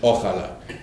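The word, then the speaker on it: ojalá: is pronounced ochala and the one with j is spanish ochala which means um okay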